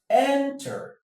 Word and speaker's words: enter: The stress is here because this is a schwa sound. Any syllable that has a schwa sound is not stressed. It's not stressed. So, the stress falls on the first level.